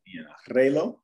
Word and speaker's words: reloj: El reloj. You don't pronounce the K. Reloj.